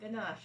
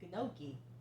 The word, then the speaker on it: gnocchi: i was doing that it's not ganache it's gnocchi yeah i did say it